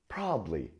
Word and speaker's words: probably: No, we say probably. Yeah, that's right. The middle syllable just disappears.